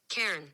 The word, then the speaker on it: Cairn: go and I said how do you pronounce c-a-i-r-n y'all gotta hear this this is awesome so listen to this Karen okay hold on hold